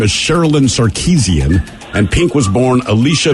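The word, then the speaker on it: Sarkisian: that's the only reason I knew how to pronounce her last name when I saw it seriously I was like oh sarkeesian I got him all right Tanner your question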